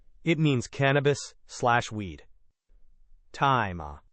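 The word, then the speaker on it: 大麻: Taima. Right. Taima.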